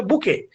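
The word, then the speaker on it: bouquet: মনে হয় কিন্তু উচ্চারণ বুকে হ্যা বুকে এটার উচ্চারণ হবে বুকে এটা মনে রাখবেন বুকে বউ কয়ে না বুকে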